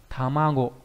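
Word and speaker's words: 卵: Âm kunyomi của chữ này đọc là tamago.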